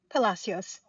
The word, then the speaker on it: Palacios: And, I want to make sure I'm pronouncing your last name correctly. Is it Palacios? Palasios.